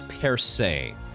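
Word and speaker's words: Percée: According to ChatGPT, it's per se, and it actually means a breakthrough, an opening, or an advance.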